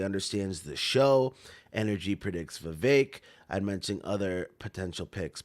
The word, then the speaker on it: Vivek: I know I was saying Vivek for a long time, but I guess you gotta think that it rhymes with cake, Vivek.